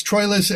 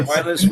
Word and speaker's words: Troilus: Although although I think again it's Trous and then Troilus is sometimes fits the verse better. So So there are there are variations.